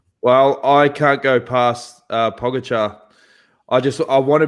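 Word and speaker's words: Pogačar: I think Pogacar Pogacar, to say it correctly, and and Roglic will will race that.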